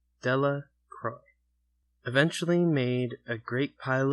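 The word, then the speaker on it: Delacroix: Bobby and Harry Jones and Dicky Delroy, the villagers pronounced this name Dela Croy, eventually made a great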